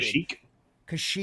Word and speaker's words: Kashyyyk: Kashyyyk.